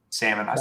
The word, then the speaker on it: salmon: do you see salmon salmon i'm pretty sure i say salmon yeah the l is silent and the a is kind of not an a so someone says salmon